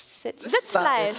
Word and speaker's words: Sitzfleisch: Maybe you can correct my pronunciation. It's like Sitzfleisch. Sitzfleisch.